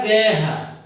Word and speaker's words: guerra: Porque o U não é pronunciado. E eles têm sempre que estar na mesma sílaba. Eu leio a palavra guerra.